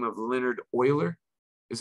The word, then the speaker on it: Euler: this swiss mathematician by the name of leonard euler is how you say his name notice his